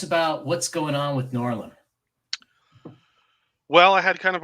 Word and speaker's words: Noirlem: Noir plus Harlem equals Noirlem. Noirlem, yes.